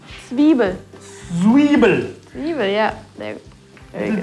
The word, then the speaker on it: Zwiebel: Schwiebel. Zwiebel.